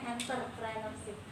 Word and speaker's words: entrepreneurship: ajaib ini tampil tulisannya itu entrepreneurship Tapi bacanya enterpreneurship hidangan sampai kalian terkecoh sama huruf-hurufnya yaitu stoiki ini ada beberapa